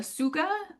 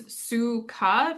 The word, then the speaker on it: Tsuga: Um and the genus is the suga uh and you don't really pronounce the t as like um we see in a lot of Japanese words. So it's Japanese suga meaning twig or leaf.